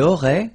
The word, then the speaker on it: aurait: Il aurait, same thing here. Final T is not pronounced.